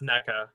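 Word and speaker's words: Nneka: that's why I'm picking it's pronounced NECA naka Naka like the word the word neck with an A on the end of it is how she pronounced in her own video yep I only know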